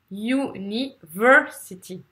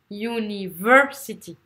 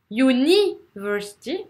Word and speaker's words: university: en cinq syllabes là vous avez deux syllabes à accentuer donc la première et la troisième donc si on prend le moins universe si vous avez la première voyous et ensuite ça sera la troisième lyonnais est donc cevr university university vous entendez si vous faites university on va rien comprendre vous allez vous allez